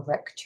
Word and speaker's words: wreck: We've got a W at the beginning, but we don't pronounce it. It's a silent W.